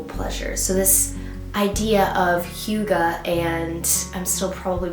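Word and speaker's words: hygge: to this term which I have been pronouncing mispronouncing for so long because I just looked it up and it is not Hai like I thought it was it's Huga and it is this Danish concept of a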